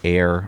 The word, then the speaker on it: Ayer: Goes from Nasha, New Hampshire to downtown Air, Massachusetts. And we spell that A Y E R.